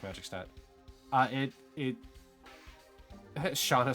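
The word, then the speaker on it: Shana: save now years old when I heard Shauna's name pronounced as shaa I used to say Shaina it's it's just how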